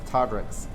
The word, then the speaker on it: Todrics: What is the correct one? It's Todrics. Todrics.